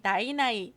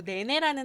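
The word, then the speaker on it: 奶奶: 귀여운 캐리커처와 함께 할머니 오징어라고 쓰여져 있는데 여기 한자 위에 나이나이 우리나라 발음으로 네네라는 한자가 보이는데 이게 바로 할머니예요.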